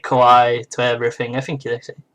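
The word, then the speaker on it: かわいい: Especially in Japan, they say kawaii to everything. I think it's called kawaii. Kawaii na. That's the right pronunciation, I think.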